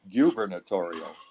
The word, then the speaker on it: gubernatorial: election for governor but they had us pronounce it gubernatorial the the U was pronounced like a you you you editorial so they had different